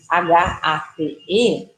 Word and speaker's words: hate: Por exemplo, uma palavra como hate, que escreve H-A-T-E, ela fala uma pronúncia do vogal longa, A. O alfabeto fala A, que é a. E a gente fala hate, a palavra com um E sem o som.